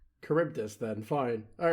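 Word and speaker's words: Charybdis: It's the Adysius has to sail between You may know of it as being pronounced Kuribdus. Okay. I was so confused. I was like, what is he talking about? Oh, Caribus then.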